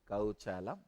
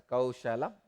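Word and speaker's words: कौशलम्: the space Yogaha Karmasu Kauchalam. I have decided I will continue to make this spelling mistake. I am not going to pronounce this as a Kaushalam. I will call it as Kauchalam only.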